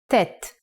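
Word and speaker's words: טֵית: you ready bon april the ninth letter of the aleph bet is tet it has the sound of t let's write it the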